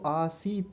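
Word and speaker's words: आसीत्: आसीत आसीत हलंत लगा हुआ है तो आसीत वहीं रुक जाएंगे क्योंकि इसमें पीछे अ नहीं है।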